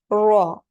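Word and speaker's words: ر: Raw. That way we pronounce the raw heavier. And most of the times in the Holy Quran, the raw is going to be pronounced heavier.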